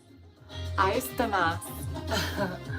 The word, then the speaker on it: 愛してます: 愛してます.